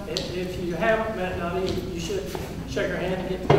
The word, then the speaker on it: Nydia: It's pronounced Nydia. It rhymes with Lydia, and it starts with the letter N.